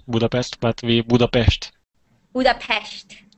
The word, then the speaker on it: Budapest: just some but anyway I don't live in Budapest and and Budapest is U far away from